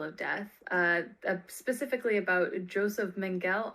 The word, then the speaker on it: Mengele: is then pronounced Mengele. Mengele? Yeah, Okay. yeah. So Joseph Mengele, he would fall into the same category as